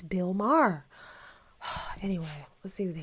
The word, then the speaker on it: Maher: this one is to Bill Maher rhymes with jar uh this is new